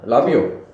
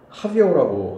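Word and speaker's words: Rabiot: 라비오. 무슨 라비오야? 라비오, 이스키, 뭐죠? 라비오가 영어로 거의 레빗이던데, 이름이? 그렇지 않아? 합이온데 R이 R은 그흐 발음 나거든. 아, 그럼 합이오라고 합이오야, 읽어? 합이오. 아, 그럼 프랑스에서는 하비오라고.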